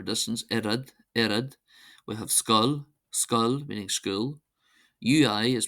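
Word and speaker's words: scoil: We have skull, skull, meaning school. UI is pronounced as an I, so we have ishke, ishke, ishke, meaning water, and fwil, fwil, fwil, meaning blood.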